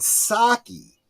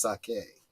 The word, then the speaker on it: sake: me a a sapora and Saki no I'm sorry I think that's pronounced sake uh when my first